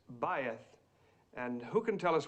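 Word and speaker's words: בית: Faith. Well, almost right, Mr. Crane, thank you. The correct pronunciation is bayeth.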